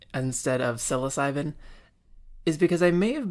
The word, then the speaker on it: psilocybin: This is a series where we talk about the research on psilocybin, the psychedelic prodrug found in magic mushrooms.